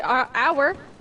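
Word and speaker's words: hour: H is silent in many English words for various reasons. The word our, and honest come from French, and in these cases English took over the French pronunciation as well as the word.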